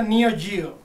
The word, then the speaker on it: Neo Geo: vez revisara Spin Master Este clasicazo de la Neo Geo Oye Fede pero se pronuncia Neo Gio cállete aquí tenemos los fatal Fury una épica